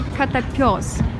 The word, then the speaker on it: Котопёс: Here we can see that they spell it without the dots, but it should be КотопЁс, because пёс in russian is a dog.